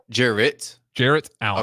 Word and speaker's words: Jarrett Allen: No, Jared Allen, NBA. Jarrett Allen. Okay, not Jared. Jarrett Allen.